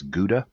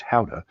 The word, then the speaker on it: Gouda: Most Americans say it's Gouda, but in Holland it's pronounced Gouda after the town of Gouda.